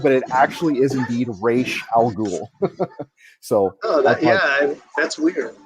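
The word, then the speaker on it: Ra's al Ghul: a university and asked what is the proper pronunciation of this character's name i always thought it was razzagle but it actually is indeed rache algul so oh yeah that's weird i mean i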